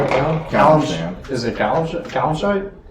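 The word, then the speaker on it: Calimshan: Is it Kalimshite? Kalimshan.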